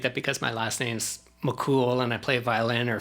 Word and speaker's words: McKhool: jigs and reels but actually mccool would have been pronounced in kafir mishki lebanon where my ancestors are